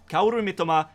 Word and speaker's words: Kaoru Mitoma: the Japanese culture, and I am pronouncing it in the correct Japanese way. So yeah, Kaoru Mitoma, that is how you say it, and that is a player who you should definitely be keeping.